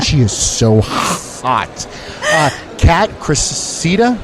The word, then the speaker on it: Cressida: Kat Cressida? Cressida, yeah.